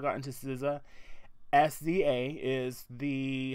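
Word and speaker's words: SZA: hitting Sousa if you have not gotten to Sousa SVA is the how you spell it and it is an amazing album it's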